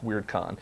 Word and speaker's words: WyrdCon: And remember, that's spelled WYRDCON. And they are also on Twitter as well. They're at WeirdCon.